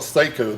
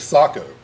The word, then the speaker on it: Sako: He said, Ben, why do you call it Seiko? The Finnish pronunciation is Sako.